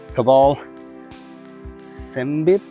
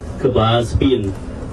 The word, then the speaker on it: Kbal Spean: But we are at Kbal Spean. I'm definitely saying that wrong. Here's a clip of someone who can say it right. Kbal Spean.